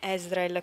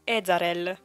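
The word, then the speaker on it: Ezarel: Che poi io ho scoperto, anzi una nel gruppo WhatsApp di Eldaria mi ha fatto notare che non è Ezreal come io l'ho sempre pronunciato, ma è Ezreal.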